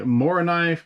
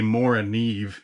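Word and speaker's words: Morakniv: just fine anyway yeah the more knife companion spark or I guess I should say more a Neve if I want to pronounce it correctly but I'm an American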